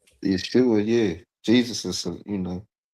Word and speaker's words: Yeshua: We would uh both be pronounced as Yeshua, right?